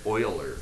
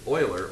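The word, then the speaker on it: Euler: guy's name right here his name is Leonard Oiler or you want to be Oiler it looks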